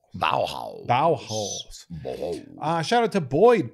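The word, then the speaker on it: Baohaus: Yeah, but this one is spelled like Korean buns. Oh. So it's ba- B-A-O-H-A-U-S. Yeah, yeah, okay. Bauhaus. Bauhaus.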